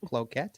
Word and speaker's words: Cloquet: Cloquet? Cloquet. Cloquet. Cloquet. CLOQUET is Cloquet, Chad. like croquet. Yeah, like croquet, but cloquet.